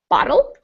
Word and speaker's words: bottle: it's sort of similar to make butter or bottle so it sounds a little like a d even though it's really a little different even than a d it's just called a flap so you just kind